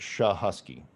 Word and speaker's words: Cichocki: how it's spelled so it's pronounced sha husky like sha and then husky like a dog uh for those of